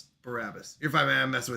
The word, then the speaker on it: Barabbas: It's Barabbas, but I am standing by biopic.